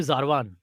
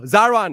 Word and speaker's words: Zervaan: He called you Zarwan. Hmm. Zarwan. Oh, Zervaan, Haji, Zervaan.